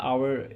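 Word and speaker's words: hour: तो यहाँ पे क्या आ जाएगा, एन आवर, क्योंकि यहाँ पे क्या है, जो एच है वो साइलेंट होता है, आवर इसकी प्रोनाउंसिएशन होती है, राइट, मतलब कि इसको हम आवर पढ़ते हैं।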